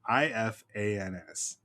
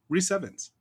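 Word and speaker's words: Rhys Ifans: First name RHYS, last name if ans. So it looks like I fans. However, is that your final answer? It is not because this man is Welsh and it's simply pronounced reven.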